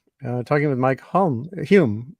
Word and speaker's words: Hulme: not too hot uh talking with Mike home Hume right you pronounce it humans at Cambridge University in England